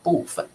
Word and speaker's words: 部分: 一样的，不过在北方他们会念部分，他们好像会念成轻声，对不对轻声部分都可以啦，其实